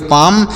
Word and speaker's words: palm: PALM तो पी से पढ़ेंगे प, ए से आ की मात्रा, यल यहाँ पर साइलेंट है और यम से पढ़ेंगे म, तो इसे पढ़ेंगे पाम।